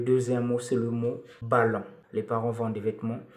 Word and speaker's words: ballot: le mot le vrai mot utilisé c'est nouveau ballot Ballo c'est mon français qui s'écrit B a deux l o T qui